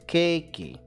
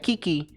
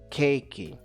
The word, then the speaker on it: Cakey: really know my name how they pronounce my name is cakey not ki ki ki ki not Kiki once again cakey so and this is